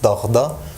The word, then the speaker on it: dağda: But in Şanlıurfa dialect, it is fine. So it's pronounced as dağda and bağda. Bağda, dağda.